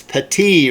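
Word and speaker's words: Patey: it's grety uh and you guys corrected me on this pronunciation it's Pati right Larry Pati again 73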